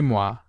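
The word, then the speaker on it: moi: who is there is mua me and say mwa it is me is the legitimate phrase never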